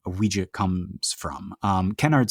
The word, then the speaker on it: Ouija: So you have the French oui, and you have the German ja. So like Ouija.